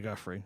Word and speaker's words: Giuffre: Virginia Giuffre, I believe. Giuffre, okay.